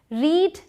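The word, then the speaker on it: read: हो गया आपके लिए रीड की स्पेलिंग आपको तीनों में से दिखे रही है लेकिन इनकी प्रनंसीएशन अलग है इसे पढ़ा जाता है रेड ठीक है जो बेस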